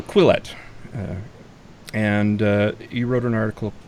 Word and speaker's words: Quillette: I'm never really sure how to pronounce that, but it's just double L. So Quillette, and you wrote an article.